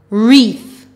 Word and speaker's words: wreath: to eek tweak now remember in this word the w is silent wreath also remember in